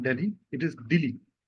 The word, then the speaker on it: Dili: That is Delhi. No, not Delhi. It is Dili. It rhymes with the capital of India, so it's easy to remember.